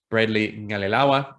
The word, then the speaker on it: Bradley-Qalilawa: So that's Nick Bradley-Qalilawa. There's me doing my best to pronounce the way in which you pronounce his name, the Q in Fijian.